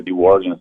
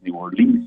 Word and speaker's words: New Orleans: Nova Orleans tanto que ela tem dupla pronúncia New Orleans New Orleans ela é de Matriz